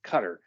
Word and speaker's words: Qatar: this is where I learned the pronunciation of the word cutter it's not Qatar or Qatar or anything else it's Qatar and she was sent